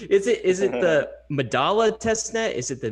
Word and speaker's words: Medalla: controversial but you know in argentina they say midasha but in the rest